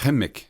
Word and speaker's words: Qimmik: En fait, on prononce Chimique.